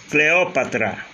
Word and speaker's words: Cleópatra: Cleópatra, você tem última, penúltima, antepenúltima. Proparoxítona.